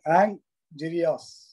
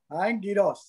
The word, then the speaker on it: Angiras: Today, our speaker, Angirias. Am I pronouncing his name correct? Angirias? Hello, Toastmaster Angirias? Is it right? No, it's Angiras. Angiras, right?